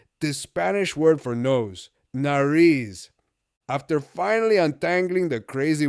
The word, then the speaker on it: nariz: Nariz rhymes with Paris. Easy to remember. Nariz.